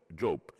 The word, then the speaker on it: Job: I say book of how do you pronounce it? He job the guy.